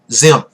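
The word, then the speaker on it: Diệm: down here, Nguyen Dinh Zim. It's got spelled with a D, but it has sort of a Z sound in Vietnamese. Diem becomes president of South Vietnam after the Geneva Agreement.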